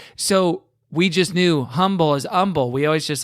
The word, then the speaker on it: Humble: Okay, but you would consider the Deerbrook Mall in Humble, Texas. That's your mall. Yes, although it's pronounced Humble, Texas, not Humble, Texas.